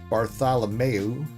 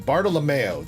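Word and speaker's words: Bartolomeo: I'm tossing you the alternative art Bartholomeo. Wait, Bart Bartalomeo. There we go.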